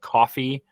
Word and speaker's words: Coffy: So like I watched this movie called Coffee. It's spelled Coffy.